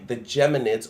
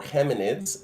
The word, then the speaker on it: Geminids: So that astral event is called the Geminids or Geminids, if you pronounce the G like in English or in Spanish, and they appear to radiate from the Gemini, the twins constellation.